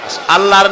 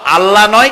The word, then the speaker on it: আল্লাহ: আল্লাহর নাম আল্লাহ, বলেন তো। আল্লাহ নয় কিন্তু, আল্লাহ হচ্ছে অশুদ্ধ, শুদ্ধ হচ্ছে আল্লাহ। বলার সময় মুখটা গোল হয়ে যাবে।